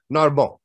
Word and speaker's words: Narbonne: Narbonne.